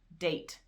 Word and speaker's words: date: If you have a word, date, D-A-T-E, because there is an E at the end and it is silent, it's sneaky, it makes the A say its name.